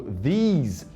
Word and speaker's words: these: Esses S's aqui, ó, do these e do those, tem som de Z. E a gente não fala essa letra E no final. Então, termina com Z.